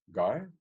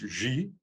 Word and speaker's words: Guy: of short story it was called um GUI guy which is actually pronounced ji but guy and his surname m-a-u p a